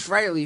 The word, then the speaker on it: Frehley: years German fry I always spell it wrong fre but it's Frey freely admits that Frey is the proper pronunciation is freyy yeah that's